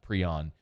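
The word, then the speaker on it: Pream: with uh kai prion p-r-e-a-m i'm told it's pronounced prion uh jumping into the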